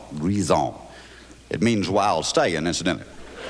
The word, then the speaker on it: Grizzard: The name Grizzard, when pronounced correctly, is a beautiful melody. It's a French name. When it's pronounced Grison. Grison.